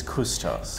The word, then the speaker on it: Cvstos: How do you say this? Cvstos. No, I'm kidding. It's Cvstos. Cvstos.